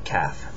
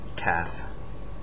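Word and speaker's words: ك: not it's not a c c is a calf calf this is the the Arabic K CF c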